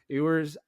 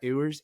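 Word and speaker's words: Ewers: Manning popping off with ERS do I say that right eers ear Quin ERS it's spelled it's like yours with an accent yeah yours interesting yours I'm gonna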